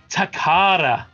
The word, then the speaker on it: Takara: takara that's how it's pronounced believe it or not i was hoping